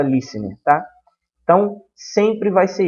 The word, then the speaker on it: listener: Se escreve listener, mas se fala listener.